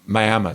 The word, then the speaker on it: Miami: It is actually spelled exactly like Miami, but pronounced Miami.